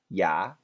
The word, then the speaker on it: you: The perfect pronunciation is you, a little bit faster, ya, and really fast, yeah, yeah.